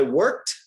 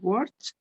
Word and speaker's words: worked: With these particular verbs, it sounds like a T at the end, right?